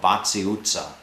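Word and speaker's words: Váci utca: of the main shopping streets, which is called Vaci Itza, and it's spelled V-A-C-I, Vaci Itza.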